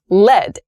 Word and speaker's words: led: Lead, L-E-A-D, the verb, the past tense of that verb is led, L-E-D. L-E-D, led, has the same pronunciation as the noun form of L-E-A-D.